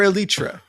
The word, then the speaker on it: Eletre: I'm starting to realize that maybe the pronunciation is elytra because there used to be a car called the Lotus Elite and they're trying to do like a heritage thing.